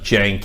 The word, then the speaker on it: Cenk: so yeah so it's cen K but it's pronounced Janke and then it's I'm doing my best to